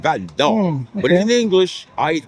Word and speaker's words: Val-d'Or: You got to say it with the accent, Val-d'Or.